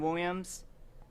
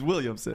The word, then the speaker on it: Williamson: you said Williams. It's Williamson.